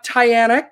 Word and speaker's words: Tiana: So we have Tiana Kelly. And the way I learned how to pronounce her name correctly is it rhymes with Diana.